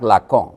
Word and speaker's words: লাকাঁ: তা আসুন, এখন জাক লাকা সাহেবের নাম হচ্ছে জাক লাক। তো আমরা বাঙালি বলি, লাকা বলি। কাজে আপনারা বেয়াদবি নিয়েন না ওটা। বলে আপনি তো ভুল উচ্চারণে ফরাসি পড়ছেন। ফরাসি তো ভুল উচ্চারণ করবেই।